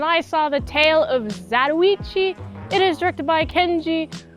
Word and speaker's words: Zatoichi: Also, I noticed in the movie, he's pronounced Zatoichi. That's just how the Japanese people in the movie say it. They say Zatoichi.